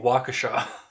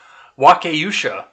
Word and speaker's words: Waukesha: have found was listening to people trying to pronounce the name of Waukesha Waukesha I mean I I didn't know it